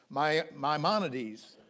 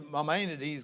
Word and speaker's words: Maimonides: Moses Maimonides. And I had a hard time pronouncing that name.